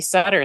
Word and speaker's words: Sutter: to us from Sutter. Thank you. Thank you. Rhymes with butter.